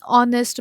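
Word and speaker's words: honest: एन आर, एन ऑनेस्ट मैन. ये जो सारे एग्जाम्पल्स है इसमें जो है एच साइलेंट है.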